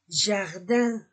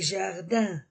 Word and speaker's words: jardins: syinguliier au pluriel les on ne prononce pas le S les jardins les jardins pluriel masculin pluriel le